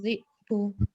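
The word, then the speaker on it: ذئب: Seharusnya fa'akalahu dhi'b ya, bukan dhi'ab atau dhi ya, tapi dhi'b.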